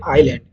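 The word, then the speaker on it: island: ঠিক একইভাবে যেমন আই এস এল এ এন ডি এর উচ্চারণ হয় আইল্যান্ড। কিন্তু সেখানে ইয়েস সরি এখানে একটু মিস্টেক করা যায়। ইয়েস এখানে এস হচ্ছে একটা সাইলেন্ট লেটার।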